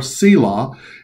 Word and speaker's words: Selah: of psalm even though most people don't know how to pronounce it and we really don't know what it means the word is salah or selah and people think that